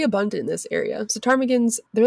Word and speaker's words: ptarmigans: eating ptarmigans spelled p-t-a-r-m-i-g-a-n-s which is silent p this is highly p so they're very abundant in this area so tarmigans they're like kind of